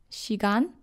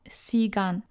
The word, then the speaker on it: 시간: 시간, not 시간. I have seen foreigners who say 시간, but it sounds like if your name were Sean and someone would call you Son. Or instead of Shakira, someone would call her Sakira.